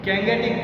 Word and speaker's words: Gangetic: Gangetic plain, not a Ganga. You can say Ganga, but the namely we can pronounce is Indus-Gangetic plain and the Himalaya.